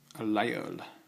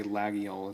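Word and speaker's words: Laguiole: This is a lagiole, or lagiole. A lot of people say lagiole. It's a butchery of the actual pronunciation.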